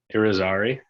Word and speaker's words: Irizarry: nice yeah awesome yeah mine is pronounced how it's spelled too but for some reason people still find a way to mess it up how do you pronounce it irizarry right that's what i